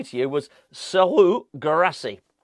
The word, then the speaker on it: Serhou Guirassy: The name I was going to say to you was Serhou Guirassy. I don't know why I said the first bit with a French accent and then Serhou Guirassy. That's how you say it.